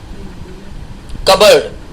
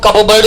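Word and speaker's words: cupboard: ओ ए आर डी कबर्ड इसमें P silent रहेगा इसको कप बर्ड नहीं बोलना है कबर्ड घर में उपयोग आने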